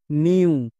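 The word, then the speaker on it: mew: ইউ তাহলে দন্তন plus you কি হয়ে যাবে মিউ ক্লিয়ার এভাবে করে যদি আমরা উচ্চারণ করতে পারি তাহলে 1% ও ভুল হবে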